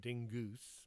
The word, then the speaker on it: Dingus: What can Madame Dingus, pronounced Dingoose, more hoity-toity that way, do for you today?